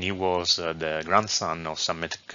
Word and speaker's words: Psamtik: Altogether, this reads Psamtik, which in anglicized reading is pronounced Psamtik, or according to Latin and Greek historiography, Psammeticus.